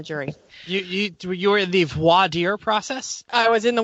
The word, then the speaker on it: voir dire: You were in the voir dire process? I was in the voir dire process. How's that pronunciation there, Christopher?